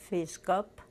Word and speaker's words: Fiszgop: My name is Fiszgop, pronounced in Polish Fiszgop, and I was born